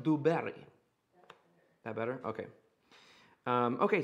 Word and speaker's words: Du Barry: and then barry b-a-r-r-y oh madame dewberry oh sorry laura is correcting my pronunciation madame du berry that better okay um